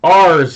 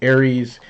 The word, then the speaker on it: Ares: Ars Vapor is what I'm going to call them because that's how it's spelled. Ars. It's not spelled Aries. It's spelled Ars. Aries would have some sort of I in there somewhere.